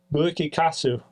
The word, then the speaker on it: Bu-ikikaesu: On this episode, Maximum the Hormone, Bu-ikikaesu, released in 2007. Cheers, fellas. Cheers, gentlemen. That's how you pronounce it.